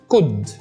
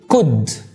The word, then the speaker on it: could: بقول بص could تاني could.